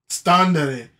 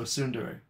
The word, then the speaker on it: tsundere: Standere. No, tsundere.